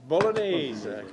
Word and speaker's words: Bolognese: So how do you pronounce the meat one, Joe? Let's go, Mr. Mayor. This is just Bolognese. Bolognese.